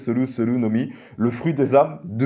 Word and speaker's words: Soru no Mi: Alors moi, il y a marqué Soru, mais moi je pense que c'est Sol no Mi, prononcé à la japonaise, Soru no Mi, le fruit des âmes de Big Mom, tout simplement.